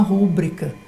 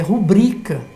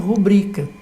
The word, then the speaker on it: rubrica: né, estudadas, que diz que vai fazer uma rúbrica. De verdade, está completamente equivocado. Essa palavra não é proparoxítona, porque veja, quando se pronuncia rúbrica, primeiro até fica mais difícil.